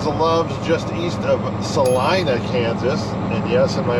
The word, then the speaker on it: Salina: here this is the loves just east of celina kansas and yes in my other videos i said salina kansas i've since learned it is pronounced celina even though i would still like to call it selena however we are just east of salina kansas